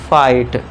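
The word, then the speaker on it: fight: इधर इसमें भी जी एच साइलेंट रहेगा। तो एफ आई टी तक पढ़ेंगे। तो इसे क्या हो जाएगा इसका उच्चारण? फाइट।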